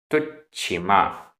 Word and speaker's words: तुच्छिमा: तुच्छिमा, आधा च छ।